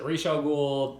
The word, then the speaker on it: Ra's al Ghul: And I say Raja Ghoul. I know some people say Rachel Ghoul, different things. I don't care how you say it.